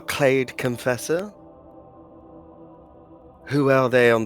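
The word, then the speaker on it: Klade: Yes, and this Miramar Clade Confessor?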